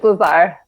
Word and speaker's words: Lazare: It's Lazare. Yeah, I thought so. Okay. The teachers always mispronounce my name in elementary school, even though it's pronounced phonetically.